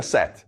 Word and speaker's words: Seth: Agora, Osiris é um grande faraó, mas seu irmão Set se pronuncia Set, OK? Mas se escreve Seth.